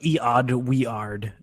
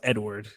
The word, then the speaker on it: Eadweard: It's like Eod Weard. It's like, no, it's Edward.